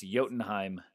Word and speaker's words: Jotunheim: Is Jotunheim, which starts the same way as the Titan Jotun.